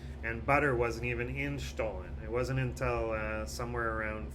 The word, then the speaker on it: Stollen: is about stolen and i want to pronounce it in german just to show you how fancy i am and here we go why not stolen by not stolen how did i do